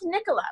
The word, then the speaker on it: Nikola: I'm saying it right, Nicola. Is that right, Christian? It's Nikola, like Nikola Tesla.